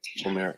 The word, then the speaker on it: Oumair: Do we have a correct pronunciation of his name? That's the best information I was told. Sorry? Aejaz. Oumair Aejaz.